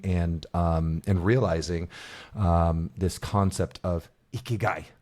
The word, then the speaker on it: Ikigai: And that's going to make the biggest difference in achieving, experiencing, and realizing this concept of Ikigai. Ikigai.